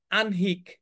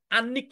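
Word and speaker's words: আহ্নিক: বুঝতে পেরেছ আগ্রহ উদ্যোক্তা আনহিক দেখেছো এটা কিন্তু আন্নিক না আমরা এটাকে ভুল উচ্চারণ করি আমরা বলি হচ্ছে আনিক এটার উচ্চারণ হচ্ছে আনহিক আনহিক যেমন একটা উচ্চারণ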